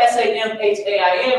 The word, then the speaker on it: Samhain: In ancient Britain and Ireland, the Celtic festival of Samhain is spelled S-A-M-H-A-I-N, but it's pronounced Samhain.